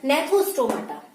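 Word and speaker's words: Gnathostomata: गया है, एग्नाथा और नेथोस्टोमाटा। ठीक है, कितने में डिवाइड किया गया है, वर्टिब्रेटा को 2 पार्ट में डिवाइड किया गया है। इसमें क्या होगा आपका, एग्नाथा और नेथोस्टोमेटा, जी साइलेंट हो जाएगा। ठीक है, अब रही बात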